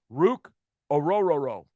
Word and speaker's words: Ruke Orhorhoro: And I know I said that right. Ruke Orhorhoro because I've heard a number of announcers say it, and that's exactly how you say it.